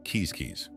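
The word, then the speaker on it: Quizquiz: upon the province of quisquis pronounced kisis these people spoke a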